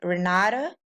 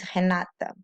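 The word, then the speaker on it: Renata: is my name uh people pronounce my name here Rada but as I said before when we have the r in the beginning of the word it sounds like H so the right way to pronounce my my name in Portuguese is hanata let's talk about grammar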